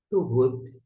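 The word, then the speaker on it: טובות: Como é que a gente vai pronunciar? Boas, tovot. Tovot é boas.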